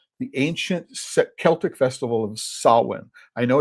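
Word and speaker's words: Samhain: traces back to the ancient Celtic festival of Sin. I know it's pronounced I know it's spelled S A M H A I N but it is pronounced Sin.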